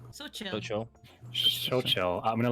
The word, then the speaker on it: Xochitl: Sorry if I pronounce this wrong. So Xochitl, you said? So chill.